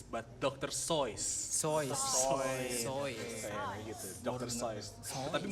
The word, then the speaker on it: Seuss: a video that says dr suus is not pronounce Dr suus but Dr soys so gitu Dr so tapi malu banget gue